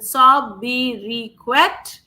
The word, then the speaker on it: sobriquet: The correct answer here, guys, is the correct pronunciation of this word is sobriquet. Okay, sobriquet. So therefore, option number 1 is the correct answer. The T is silent.